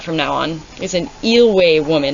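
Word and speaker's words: Eyllwe: Oh, let's see if I remember how to pronounce this word. Eelway. I'm going to check. I got to fact check myself. Is it a fact or is it just Eelway? I said it right.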